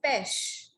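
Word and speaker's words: pêche: But in French, we don't give it ch sound, we give it sh sound. So it's pesh.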